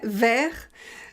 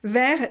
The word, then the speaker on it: vers: léa féminin singulier verts on ne prononce pas le s fait vers vers 19 19 19 heures